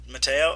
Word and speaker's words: Mateo: Yeah, because Mateo is a Spanish name. So. Mateo. Okay, Yeah. Mateo. Okay. Yeah, it's Mateo.